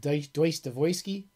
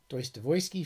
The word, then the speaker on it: Dostoyevsky: biography of of tolstoy of dostoyevsky which is pronounced deutsch devoesky deuce devoysky for you russian russia files and they were